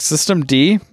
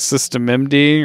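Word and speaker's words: systemd: Like System D, used to think it was System MD or System Nina, and then I talked to a Linux person, and they're like, it's System D.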